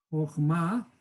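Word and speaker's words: חכמה: Voy a escribir la palabra Jochma. ¿Sí? Jochma. Y en hebreo, ¿cómo se escribe?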